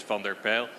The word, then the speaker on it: van der Pijl: Surname a bit more difficult, but if you really want to pronounce it, yes, it's van der Pijl.